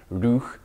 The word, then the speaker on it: Roeg: it's pronounced rouh and it actually means rough rather than rogue